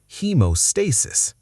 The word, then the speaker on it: haemostasis: Haemostasis.